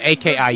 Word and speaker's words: Aki: So Wait, their name is Aki or Aki, so AKI, you just say Aki.